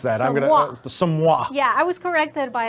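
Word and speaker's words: Somua: Or how do you pronounce that? Somwa.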